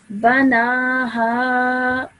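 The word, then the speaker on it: بناها: read normally this as banaha, Banaha. banaha. Banaha. Well done, excellent. Now, because no change will happen or no change will occur, I would read this the same way as if I were pausing as well.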